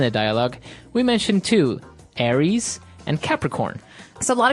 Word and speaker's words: Aries: Greek mythology that's right and uh so it's pronounced Aries Aries a r i e s Aries that's right